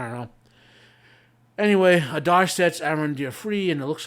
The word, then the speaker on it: Arondir: We open to Arendar. Let me pronounce the show. It's Arondir. They keep rolling the R's for some reason.